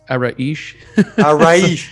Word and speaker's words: Araish: really well and uh just for the record it's araesh yeah i think i should have checked don't worry about you're not the first or last that butchered my name and it's i'm very